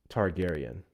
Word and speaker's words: Targaryen: It's pronounced Targaryen.